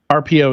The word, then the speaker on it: Arpio: Yeah, and for people listening, RPO or watching, I guess, RPO is spelled ARPIO. I'm just saying that because it didn't even occur to me that people might think it's RPO.